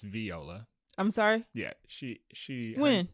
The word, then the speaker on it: Viola: Sutton who was played by Viola Davis it's Viola I'm sorry yeah she she she has said her name pronounced V you know what these stars coming